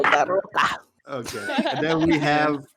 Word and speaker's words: DeRocca: Or if you're from Ibiza, Gabriel Oh DeRocca. my god. I love that. I love that. No. Do not roll your R's in the same chat with me. Gabriel Daroca.